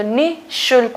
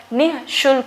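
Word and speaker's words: निःशुल्क: तो निशुल्क होता है, ठीक है, निशुल्क नहीं होता है, निशुल्क होता है। इस जो विसर्ग को ह हम प्रोनाउंस करते हैं वो यहाँ पे इंडिकेट होना चाहिए।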